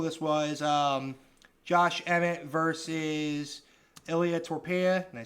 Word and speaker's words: Ilia Topuria: This was Josh Emmett versus Ilia Topuria. Did I say it right? Yep, Ilia Topuria.